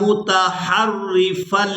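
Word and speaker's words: مُتَحَرِّفًا: دبره إلا متحرفا لقتال۔ اب یہاں اس لفظ کے ہجے بھی کریں گے، میم پیش مو، تا زبر تا، موتا، حا را زبر حر، را زیر ری، حری، متحری، فا لام دو زبر فل لام زیر لی، متحرفا لی، قاف زیر قی، تا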